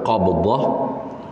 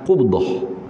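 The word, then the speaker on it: قبضة: Jadi bacanya hak betul, hak lebih tepatnya ialah qubdah. Qubdah.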